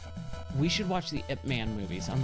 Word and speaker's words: Ip Man: Oh, the Ip Man.